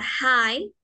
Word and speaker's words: hi: es agradable entonces la h en la palabra high suena como una j y la i suena